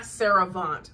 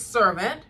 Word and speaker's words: Servant: all I'm back to watching servant it's not sarant like I always pronounced it but there is a word called cant but it's servant which I really do like and so it